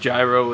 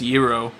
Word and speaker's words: gyro: haven't tried the best Gyro in the United States he pronounces his a gyro although it's technically pronounced Euro but it sounds cooler